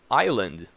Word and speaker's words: island: the complete computer hope island can you see island so you did not say the ass is not pronounced yes island okay and usually words